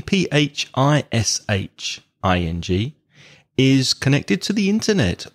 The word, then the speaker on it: phishing: speaking of fishing there's another word fishing with a different spelling and a completely different meaning well not completely different maybe fishing pH i Sh ing is connected to the